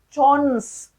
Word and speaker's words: CHONS: So how can we pronounce the trick? Chons, chons, right? C-H-O-N-S.